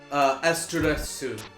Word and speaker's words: Astaroth: Again, In case you're wondering, with that, because Astaroth is also the name of a demon, they anglicized the Japanese pronunciation to make it a little more. So it's Asteresu. Oh, okay.